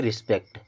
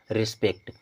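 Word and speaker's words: respect: पीई सीटी पेक्ट अब आर ई एस पीई सीटी को हम पढ़ते हैं रिस्पेक्ट क्या पढ़ते हैं रिस्पेक्ट इसमें छुड़ गया एफ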